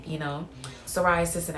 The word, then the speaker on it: psoriasis: Psoriasis, and I forgot the P is silent.